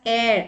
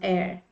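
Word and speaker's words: heir: in this word air H is silent and it begins with e i r so that's why it is pronounced air okay mistake I just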